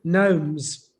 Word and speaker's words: gnomes: No, gnomes. Like what? Like gnomes. What's that? Gnomes. the gnomes. Oh, G Like- is silent.